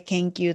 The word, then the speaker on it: 研究: いますですねこれ研究と読みます研究してい